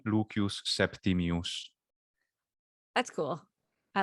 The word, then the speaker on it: Lucius Septimius: name is uh interesting lucius septimius yeah english would say lucius septimius or lucius lucius lucius whatever you want to do septimius and in classical latin pronunciation leukeus septimius that's cool i like